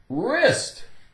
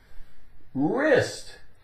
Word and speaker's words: wrist: Wrist. Wrist. W, the W is silent. R, I-S-T, ist.